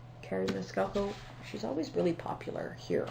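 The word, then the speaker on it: Maniscalco: and i believe that the last name is pronounced miniscalco carrie mescalco she's always really popular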